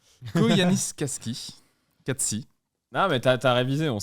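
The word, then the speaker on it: Koyaanisqatsi: Alors, attention à la prononciation. Koyanis Katsi.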